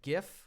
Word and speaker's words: GIF: I call it GIF. I think it makes more sense to pronounce it GIF. When you look at it, it's a G, not a J.